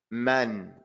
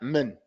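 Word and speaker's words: مَنْ: Man, you have to open up your mouth. This is not min. That you go from the meme to the noon without opening your mouth, that's a mistake.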